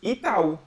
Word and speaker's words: Itaú: So the pronunciation is Itaú.